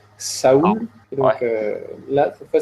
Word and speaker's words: Séoul: Donc la dernière fois, on a appris que Séoul se disait Saoul.